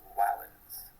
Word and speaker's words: valens: like in the word valens, which means strong, although the Romans would have pronounced it closer to valens.